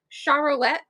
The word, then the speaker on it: Charlet: So my favorite characters are Finley, Brody, Fiona, Charlet. Yes, that's her name. I made it three syllables.